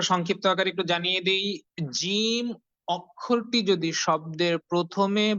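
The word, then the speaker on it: جيم: জিম অক্ষরটি যদি শব্দের প্রথমে বা শুরুতে বা মধ্যখানে বা মাঝখানে থাকে, তাহলে সেক্ষেত্রে তখন জিম অক্ষরটির শুধুমাত্র মাথাটুকু দেখা যায়, বাকি অংশটুকু দেখা যায় না।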